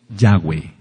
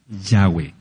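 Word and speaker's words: Yahweh: hay ninguna duda de que el nombre es yahwe yahwe por eso nosotros decimos Aleluya No hay ninguna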